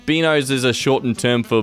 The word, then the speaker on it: binos: I mean, how do you even pronounce beanos? Beanows, which is how it's spelled, but has no relation to the actual full word. Or beanos, which would be the truncated form of the word, but has no relation to the spelling binos.